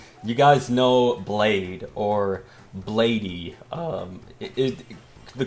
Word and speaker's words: Bladee: So, uh, you guys know Blade or Bladey. Um, it the correct way to pronounce it is Blade. But whenever I'm around someone that doesn't know who Blade is, I'll call him Bladey because I mean it's just easier to understand.